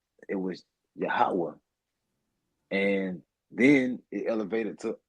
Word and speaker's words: Yahweh: on my wrist yhwh and they it's really pronounced yahwa you know what I'm saying like it's not Yahweh it was yahawah and then it elevated to Aha you know